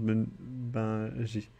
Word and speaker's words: Bungie: Même en français, ça se prononce Bangui.